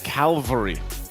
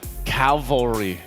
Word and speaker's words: cavalry: I just was surprised because I've always said Calvary instead of cavalry. Oh, so you mixed up the L and the... I mixed it up, but that's the first thing that comes to mind. Oh. Pronouncing it correctly.